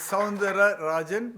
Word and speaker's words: Soundararajan: It's Sandra Rajan but a lot of people call me Dr.